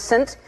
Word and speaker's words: Saint: We were sending all these names, and she sent St. Vincent, but it's pronounced Saint, and I knew you were going to see Saint and go, do you remember that?